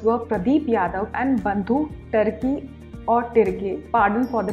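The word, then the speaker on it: Tirkey: Apart from Marandi, the other two winners were Pradeep Yadav and Bandhu Tirki or Tirke, pardon for the pronunciation, but it's Tirke.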